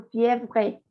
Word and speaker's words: fièvre: última E no se pronuncia. la última E no. No. Esta no. No, porque si no dirías tú fièvre, aunque la R la lleva, la arrastra.